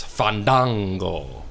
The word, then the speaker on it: Fandango: thing and he's like it's fandango and then like if somebody's pronounced that fandango he would just walk